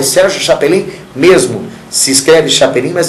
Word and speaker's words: Chapelin: Muita gente fala, mas você falou errado, é Sérgio Chapelin mesmo. Se escreve Chapelin, mas se lê Chapelin.